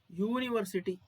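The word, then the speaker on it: university: ಯುನಿವರ್ಸಿಟಿ okay for example uni ಯುನಿವರ್ಸಿಟಿ ಸರ್ ಕನ್ನಡದಲ್ಲಿ ಯು ನ ಯಾವ ರೀತಿ ಉಚ್ಚಾರ ಬರುತ್ತೆ ಯು ಅಂತ ಬರುತ್ತೆ ಯು ಓಕೆ ಇದು ನಮ್ಮ ಸ್ವರಗಳಲ್ಲಿ ಇಲ್ಲ ಎ ಅ ಇ ಉ ಅದರಲ್ಲಿ ಇಲ್ಲ ಇದು ಸೋ ಹಾಗಾಗಿ ಇಲ್ಲಿ ಆನ್ ಬರೋದಿಲ್ಲ ದಿಸ್ ಇಸ್ ಎ ಯೂನಿವರ್ಸಿಟಿ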